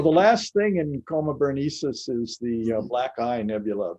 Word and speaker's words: Berenices: Okay, how did you pronounce it, Chuck? Berenices? Coma That's- Berenices is what I've heard.